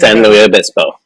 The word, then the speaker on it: San Luis Obispo: Interesting Man San Louis Obispo is the facility San Louis Obispo yeah that's how you say it who do